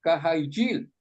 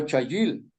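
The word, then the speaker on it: חיל: en conclusión en hebreo la palabra cail se pronuncia kajil o chayil esta palabra se usa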